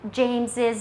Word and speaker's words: James's: These proper names end in s. They are pronounced with ziz at the end. James's book, Jesus' name.